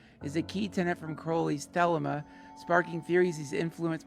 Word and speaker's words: Crowley: It's pronounced Crowley.